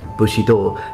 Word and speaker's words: Bushido: things on this um both Bushi and D are C Japanese readings meaning that that's the on yomi of these Japanese characters so the the way we are pronouncing them now as Bushido is it's it is a Japanese term but it comes from Chinese that this reading of these characters come from Chinese just as much as